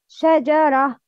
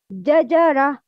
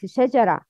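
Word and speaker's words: شجرة: The right pronouncing for this word is shajara. The wrong pronouncing is jajara. No, it's shajara.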